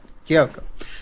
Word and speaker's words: Kyoko: Is it Kyoko? That's All it. right, Kyoko.